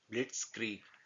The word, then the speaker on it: Blitzkrieg: ठीक है, इसको आप प्रोनाउंस कैसे करेंगे, इसको आधा तोड़ लेंगे। ब्लिट्स, जो जेड है इसकी साउंड आप एस की तरह निकालेंगे और ये क्रीग हो जाएगा, ब्लिट्सक्रीग।